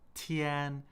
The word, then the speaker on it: 天: So, 天, first tone.